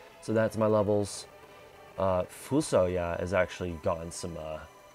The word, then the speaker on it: FuSoYa: the form of or fusoya is I believe how you pronounce it fusoya but I just call them full soil um as you